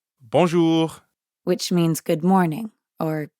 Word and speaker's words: bonjour: add the second part notice how the j in bonjour sounds a lot like the middle of the english word measure and the r at the end of ju doesn't really sound like an english r you should feel that r in your throat yeah almost like you're gargling or clearing your throat time for another speaking